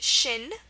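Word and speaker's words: xin: a really interesting word it's pronounced Shin um like your shin bone it's pronounced Shin but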